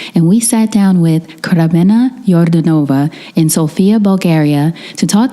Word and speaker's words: Kremena Yordanova: Kremena Yordanova. Yordanova. You can, yeah. Do you roll the R? Yeah, but Kremena Yordanova.